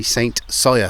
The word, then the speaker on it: St Cyr: it says so on that board it's actually Saint saw so if you've already put that comment in